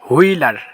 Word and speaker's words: Wheeler: তারপর আছে WHEELER, হুইলার, এলা হুইলার, WILCOX, উইলকক্স।